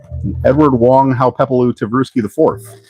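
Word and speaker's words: Edward Wong Hau Pepelu Tivrusky IV: And I said her name wrong when I showed the sixth scale figure in my top toys of 24. Edward Wong Ha how Pepalu Truki IV.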